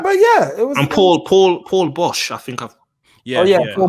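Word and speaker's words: Paul Boesch: And Paul Bosch, I think I've. Yeah. Paul Bosch. I pronounced that right. Yeah, Paul Bosch.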